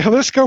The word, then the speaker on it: Jalisco: It does not sound like it's spelled with a J, but it's spelled with a freaking J.